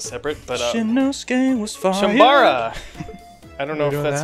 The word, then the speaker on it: Chambara: Charamba. No. Say it. Chambara. Chambara. You keep doing Charamba.